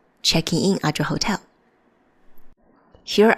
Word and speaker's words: チェックイン: It's the check-in. C-H-E-K-K-U. 2K means you have to make this small jump.